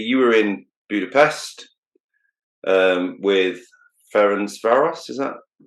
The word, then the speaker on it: Ferencváros: You were in Budapest with Ferencváros, is that pronounced right?